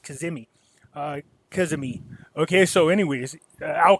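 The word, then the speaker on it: Kadhimi: And then they brought in Al Kazami here. Okay, I believe it's pronounced Kazimi.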